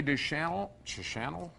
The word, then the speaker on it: Deschanel: 1976, Emily Deschanel. That's how you pronounce it.